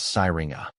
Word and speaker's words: Syringa: It's pronounced as sireinga. The emphasis is on the second syllable which rhymes with sing.